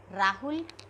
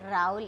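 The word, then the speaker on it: Raúl: Rahul, we say Raul in Spanish because H is silent.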